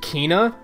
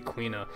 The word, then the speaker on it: Quina: Logan had the theory that it might be pronounced Kina like quiche but then I looked up the Japanese pronunciation it's absolutely quina and then like we're getting AKO soon